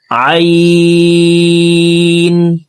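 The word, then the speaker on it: عين: তো দেখুন দ ত আইন আইন হরফকে হালুকের মধ্যখান থেকে উচ্চারণ করব। কারণ আইনের মাখরাজ হালকের মধ্যখান থেকে হবে।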